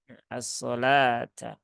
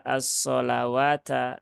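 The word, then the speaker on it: الصَّلَاةَ: ya di dilafaz asolata asalata n ini Kebetulan saya menggunakan mushaf standar Madinah Ya jadi kalau orang yang tidak paham konsepnya ini dibaca asolawata nah ini jadi repot nanti nah ini termasuk dalam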